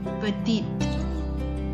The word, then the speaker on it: petite: But when it changes into the feminine form, there is an E at the end. So we will pronounce the T. Now I'll give you the pronunciation once again. Petit, petite.